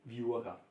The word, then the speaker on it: Viura: Viura.